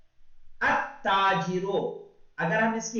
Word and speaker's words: التاجر: Okay, यानी देखो लाम को we should not read the लाम, वी शुड अलिफ, we should join the alif with ta. अत्ताजिरो, अगर हम इसकी हिज्जे करेंगे तो हिज्जे कैसे करनी है हमको?